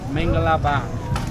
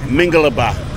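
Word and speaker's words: မင်္ဂလာပါ: bures Jare J and how you say hello hello Ming MinGa Binga yeah Mingalaba is it bing Ming Ming Ming Mingalaba learn something new people to say hello in bues is Mingalaba M MinGa how do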